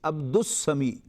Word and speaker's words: Abdus Samie: I spell it as Abdus Samie, Abdus Samie.